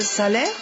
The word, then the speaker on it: Salers: On dit salaire, on prononce pas le S final. Pourquoi ? Parce que l'ancien orthographe c'est Salerne. Alors, c'est à la Révolution française où le S a remplacé le N.